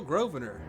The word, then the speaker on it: Grosvenor: Yeah, how'd I spell Grosvenor? The S is silent, sir.